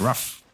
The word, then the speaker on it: Ryaf: That Prophet is Ryaf. Ryaf. Ryaf. Like a dog. Ruff.